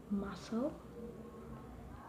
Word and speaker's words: muscle: So for the letter C can cause a few problems because it's often silent after the letter S. For the examples, muscle, scissor, fascinet, scene, scenario.